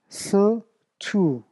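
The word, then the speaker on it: Χριστοῦ: 이것도 크리스투 오우가 우 발음 나고 이건 뭐야?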